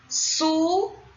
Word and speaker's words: sucuri: Sucuri. Qual é a sílaba tônica? Ri. E é a última.